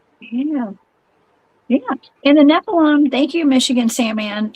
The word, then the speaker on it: Nephilim: That's just that's how you say it in Judaism, Nephilim.